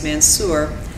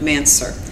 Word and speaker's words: Mansur: brother and I are aware that some people pronounce the man's her name as Mansour but today we will be using the pronunciation of mansur which is how our grandmother pronounced the name